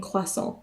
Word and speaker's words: croissant: to France and you want to have a quason do not pronounce the tea please it's p cha and quason you don't pronounce the te at the end if you